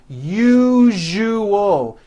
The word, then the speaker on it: usual: syllables you jus oh that second syllable jus the one with the underline needs to be voiced put your hand on your throat and feel for the vibration in the second syllable you jus oh now